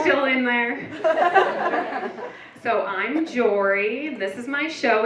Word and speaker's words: Jori: So I'm Jori. This is my show. It's called Sorry Jori. If you pronounce it correctly, it rhymes.